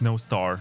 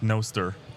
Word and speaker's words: Nostr: from this is that it's no star not no stir it's not star yeah no star no star there's no star in Welsh means good night um uh so yeah